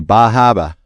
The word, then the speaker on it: Bar Harbor: If you're in Maine, they're not going to know what you're talking about if you say Bar Harbor. Really? You got to say Bahaba. Bahaba. I love that. That's how they say it.